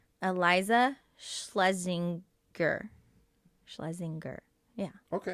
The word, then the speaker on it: Schlesinger: anyways um but say your name right eliza schlesinger schlesinger yeah okay it's just gur yeah okay